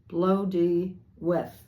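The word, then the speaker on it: Blodeuwedd: It says, the owl known as, and I'm going to butcher this, Blodawid. Oh, it says pronounce Blodawith, meaning flower face.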